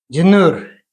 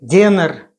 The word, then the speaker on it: Дёнер: Сегодня я буду выпекать турецкий хлеб динер или денер. Каждый ставит ударение для себя.